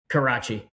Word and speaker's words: Carace: Karach. I'm joined by Adam Karach. And I would have butchered that.